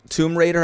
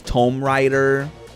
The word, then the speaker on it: Tomb Raider: I remember um I pronounced like um Tomb Raider I used to pronounce Tomb Rider.